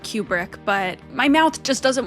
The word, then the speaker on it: Kubrick: because I've been going through all of Stanley Kubrick's films on the channel.